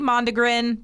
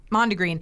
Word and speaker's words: mondegreen: it is called a mondegreen I think I'm saying it right it could be mondo grin but it's mo and degr een mondegreen and it is a